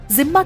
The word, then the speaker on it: जिम्मा: जिम्मा की शर्तों पर जीने वालों को जिम्मी कहा गया। अरबी शब्द जिम्मा जब अंग्रेजी में लिखा जाता है तो इसकी स्पेलिंग DHIMMA होती है, यानी धिम्मा होती है, और उन शर्तों को